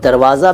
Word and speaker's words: दरवाज़ा: दरवाज़ा, जिसको कई बार दरवज्जा कहते हैं कुछ लोग। दरवज्जा तो खोल अंदर आने दे मेरी अच्छी अच्छी माँ, गाना था एक, किशोर साहब ने गाया था। ठीक है, दरवाज़ा फ़ारसी का है और उच्चारण बहुत ज़रूरी है।